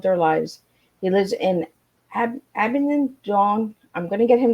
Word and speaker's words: Abingdon: So before we get started, Duncan, I want to get out where you're from, because I couldn't pronounce it right. So I live in Abingdon, which is Abingdon.